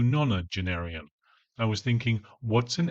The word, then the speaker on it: nonagenarian: She pronounces it as non a genenarian as opposed to nonenarian.